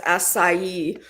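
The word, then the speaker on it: açaí: I don't know where I get acai around here though. I'm not being funny. That's why I didn't say it because I didn't know how to pronounce it. I won't lie. Yeah, it's asai but I don't know where you'd get it here.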